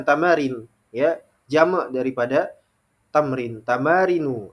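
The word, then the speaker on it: تمارين: Ya, ada latihan tamarin, ya, jamak daripada tamrin, tamarinu. Dibacanya seperti itu, tamarinu, mamnu minas sharf.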